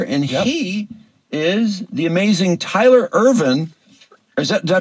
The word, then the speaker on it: Tyler Irvine: coach over there and he is the amazing Tyler Irvin is that did I pronounce it right Tyler yeah that's my name